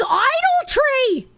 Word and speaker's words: idolatry: This whole time I thought it was spelled I-D-O-L-T-R-Y. I didn't know that that A was there. It's idolatry.